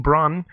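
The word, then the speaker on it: Brahne: The thief group Tantalus stages a kidnapping to get Garnet safely away from her insane mother, Queen Braun. Is that how you pronounce the name? Braun, yeah.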